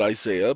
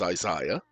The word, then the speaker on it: Isaiah: Some of you pronounce it Isaiah, but the proper pronunciation is Isaiah.